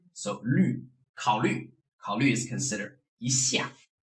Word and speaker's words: 虑: So for this 虞, you have to do is, like you keep your tongue position like the pronunciation E, and then roll your lips like you are kissing. So you have 虞, so 虑。